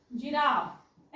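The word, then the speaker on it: giraffe: करता ज साऊंड करतो लक्षात घ्या जी इथ ग साऊंड करत नाही आपण इथ ज साऊंड करतो जिराफ ना ज साऊंड केलाय आपण इथे पण स्पेलिंगची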